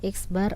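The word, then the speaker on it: x̄: per akar n dimana eksbar adalah nilai rata-rata pengamatan jadi ini x ada tanda garis di atasnya ini saya bacanya eksbar ya eksbar sama dengan nilai rata-rata pengamatan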